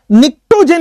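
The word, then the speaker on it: pnictogen: निक्टोजेन इसको बोलते हैं, पी साइलेंट है, निक्टोजेन, ठीक है।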